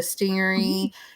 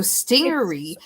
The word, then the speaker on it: stingaree: And it is okay, so stingery is based on stingray. It's actually STINGAREE, but that is how they pronounced it back in the olden days, like in the 1880s.